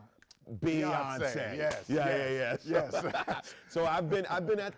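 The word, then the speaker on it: Beyoncé: Album of the Year, rhymes with fiance. Beyonce.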